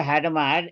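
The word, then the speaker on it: Hadamard: this particular gate Shaka hadamar is named after him the last D is not to be pronounced if you want to be French specific if you pronounce d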